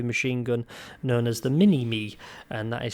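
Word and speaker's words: Minimi: And Chris was able to unlock a heavy machine gun known as the Mini-Me, and that is spelled M-I-N-I-M-I. Mike, Indigo, November, Indigo, Mike, Indigo. Mini-Me.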